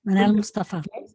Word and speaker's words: Manal Mustafa: for that and manal am I pronouncing your name properly manal Mustafa yes manal Mustafa so could you please